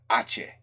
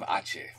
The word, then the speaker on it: Aceh: I should have known that the C is pronounced like SH, like a chair. Aceh. All right, man, the Energy of Aceh.